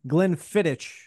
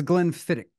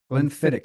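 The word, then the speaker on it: Glenfiddich: I've got the uh Glenn fittit I I know I'm pronouncing that wrong I know somewhere your your wife is judging me like she does with pronouncing her son's name that's Glen fit Glenn fit is how they pronounce that one single malt scotch their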